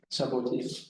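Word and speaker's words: Chabauty: The Chaboti topology, I meant to ask you how this is pronounced, but I forgot. So Tatomasi, is that the Chaboti? Chaboti topology, all right.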